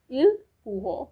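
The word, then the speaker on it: ils pourront: The last one इज they will be able, which will pronounce as इल पूहो for masculine and एल पूहो for feminine.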